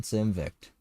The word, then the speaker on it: Simvict: Well done, Simvict. That's how you say my name, in case you didn't know, too.